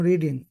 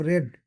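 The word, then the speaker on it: read: আমি পড়ছি আই এম রিডিং আমি পড়েছি আই হ রেড এখানে এটা কিন্তু রিড নয় রিড রেড পাস্ট পার্টিসিপল ভার্বের পাস্ট পার্টিসিপল এজন্য রেড উচ্চারণ করতে হবে তুমি যাও ইউ গো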